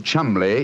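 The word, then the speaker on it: Cholmondeley: Being an American, he had no reason to know that the name Chuml is in no way pronounced the way it is spelled.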